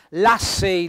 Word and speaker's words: l'assei: quindi libera il cervello Vi faccio notare anche qua l'accento tonico sulla e accento fonico aperto l'assei l'accento tonico sulla a